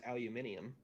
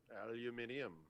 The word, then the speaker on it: aluminium: a block five or for the non-americans aluminium aluminium no why are they they added they're adding syllables it doesn't doesn't it